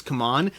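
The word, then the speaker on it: CMON: gone back and forth i believe the official pronunciation is come on but i have heard some of their own people on videos still saying simon so either way you're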